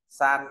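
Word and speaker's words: 三: dưới nét ngang dài ta có từ Tam là số ba đọc đọc là San ta nói San San San à Thấy chữ San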